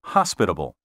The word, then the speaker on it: hospitable: The accent properly should be on the first syllable in the words exquisite and hospitable.